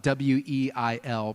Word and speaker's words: Weil: It's spelled W-E-I-L, pronounced Weil.